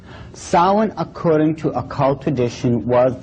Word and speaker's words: Samhain: Now, when you look at the name, it looks as if it's saying Samhain or something like that. No. This is properly pronounced in the ancient Gaelic as Samhain. Samhain, according to occult tradition, was the Lord of the Dead.